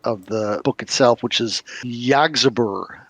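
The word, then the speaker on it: Yggsburgh: And they're going to bring back Castle Zagi, and I always butcher the pronunciation of the book itself, which is Yggdrasburg, Yggdrasburgh.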